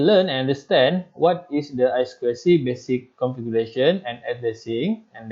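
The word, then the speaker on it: I²C: circuit i I see if pronounced as I square C it is a multi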